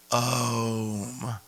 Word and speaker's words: Om: Which is actually pronounced Om, okay?